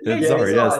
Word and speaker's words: Dzar: they bring in through a spirit guy named Dzar. Am I pronouncing it correctly? It's been a while. Yeah, Dzar. Thank you. Y'all, it's spelled D-Z-A-R, and wait till Dzar comes in as well.